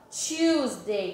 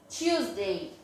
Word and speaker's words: Tuesday: Então, a terça-feira a gente fala Tuesday, como se fosse o número 2. Lembra do Tio? Pronto, mesma coisa. Tuesday.